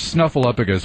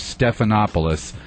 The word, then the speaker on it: Stephanopoulos: political correspondent uh george snuffleupagus was mangled several times in various forms his name is actually george stephanopoulos and now i have